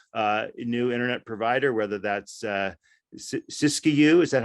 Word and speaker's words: Siskiyou: where an entrepreneurial new internet provider, whether that's Siskiyou, is that how you say it, Russ? Whether it's right, yeah. Siskiyou Telephone, or whether it's an electric co-op, or